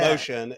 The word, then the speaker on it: Moetion: forward slashmotion and yes, spelled like it is in the show. So, m o e t i o n. I love it. Motion.